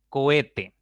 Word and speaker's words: cohete: Esa es entonces la sílaba tónica y las otras dos van a ser sílabas átonas. ¿Listo? Cohete, cohete, cohete, tiene 3 sílabas.